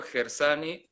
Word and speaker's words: Gershani: conversando con Marcelo Gersani Oviedo, se pronuncia así, ¿no? ¿Sí? Ah, Así.